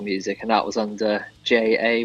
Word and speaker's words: Jxye: your name is it jxy e yes so it's just pronounced J um so the x is just like rep replace the a with an X for some reason so